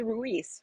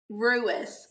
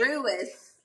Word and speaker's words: Ruis: Is it Ruiz, right? Is that how you say it? Ruis, like Ruiz, Louis, but with an R. Okay. Ruis.